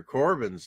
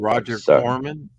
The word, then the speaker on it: Corman: Greer alone Hower okay you're saying it wrong again Roger Corman Roger cor Corin not Corbin you keep saying Corbin Corbin was an artist